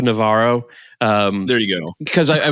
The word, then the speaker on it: Navarro: Rafa Navajo is the Brazilian Portuguese way of. I call him Rafa Navarro.